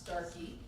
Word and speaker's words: Starcke: His name is Walter Starkey, and that's spelled Starcke. It's pronounced Starkey.